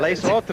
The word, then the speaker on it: Les autres: And of course, the one that you like very much, Les autres. Les autres. I knew you would get that French pronunciation right.